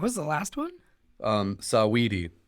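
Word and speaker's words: Saweetie: the last one um sawedy it's like her name's like oh oh oh right like sweetie but it's spelled with an a okay does she have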